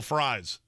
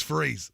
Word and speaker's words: Fries: Will Fries, but it's Freeze. Then spell it Freeze. Freeze has a Z in it. Fries are what you get at McDonald's, and that's how your name is spelled.